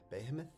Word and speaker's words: behemoth: How do we pronounce this word? Behemoth. Behemoth? Behemoth.